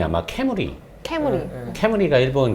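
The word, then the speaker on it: 冠: 근데 일본에서 왕관의 그 발음이 아마 캐무리.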